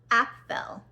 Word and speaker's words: Apfel: It starts off with a prologue explaining about a princess born in the kingdom, Apfel. And it kind of sounds like the word apple a little bit, Apfel apple.